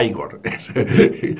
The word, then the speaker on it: Igor: Egor, que se escribe Egor porque lo vemos escrito en la película, pero que es Igor, o Igor.